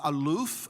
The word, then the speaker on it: aleph: And so what we have is, in the word for mankind, when we take the aleph, and aleph phonetically is aluf, and aluf is the Hebrew word for master.